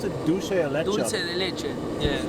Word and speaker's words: dulce de leche: How do you pronounce it? Dulce de leche? Dulce de leche.